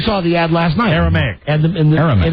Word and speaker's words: Aramaic: told me you saw the ad last night Aramaic and it's like it's Aramaic everybody says that but no it's Aramaic aric m i at the end aramic is